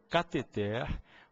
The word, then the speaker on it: cateter: por todo mundo tá o certo ainda que dou os nossos ouvidos ainda que seja incomum o certo é que se diga cateter ureter e maeter as três sem acento as três oxítonas